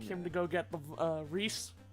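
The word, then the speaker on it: Rhys: But then the dude in Path of Radiance, whose name actually is Reese, they're like, R-H-Y-S, Riss. Like, no, that's literally the original spelling of the name Reese, but yes, my favorite Fire Emblem character. Wrist. Wrist. Fucking hate that pronunciation of that specific word. Just like, wrist. No. Wrist. It's Reese.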